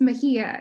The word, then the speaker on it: Mejia: It's Mejia. It's a Spanish name, so the J is like an H. Which I would have said. So Yes. I've gone with my gut. Mindy Mejia received her MFA from Hamline University.